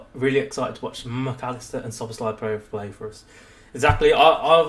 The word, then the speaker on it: Szoboszlai: excited to watch McAllister and Szoboszlai play for us.